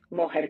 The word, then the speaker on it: Mójer: Moher, con acento en la O.